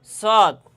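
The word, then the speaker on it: صاد: ঠিক তেমনিভাবে এই সদ হরফটিও জিহ্বার আগা সামনের নিচের দুই তাতের আগা এবং সামান্য মধ্যখানে লাগাইয়া এই সদ হরফটি উচ্চারণ হবে।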